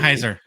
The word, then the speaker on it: Wickenheiser: If you can pronounce the last name properly. Wickenheiser. What's that? Who? Say it again. Wickenheiser. Yeah. No, you're saying it. You're saying it absolutely correct.